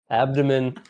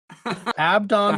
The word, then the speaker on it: Abdon: Abdon Ambergris. Abdon. Abdomen. Abdon, like one of the judges from the Book of Judges.